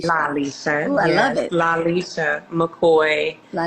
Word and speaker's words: Lalesha: rest of the night sorry Lisha not Lisha it's Lisha laisha I love it Lisha